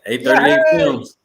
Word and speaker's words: A38 Films: A38 Films? You got it. A38 Films.